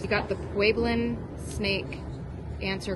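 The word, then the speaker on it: Pueblan: The pueblin, it's pronounced like it has a W in it.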